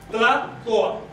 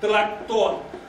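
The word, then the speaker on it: tlahtoa: En el centro se pronunciaba Tlatoa. ¿Qué quiere decir Tlatoa? Hablar. Hablar. En el norte se decía, hacia el norte se decía Tlactoa.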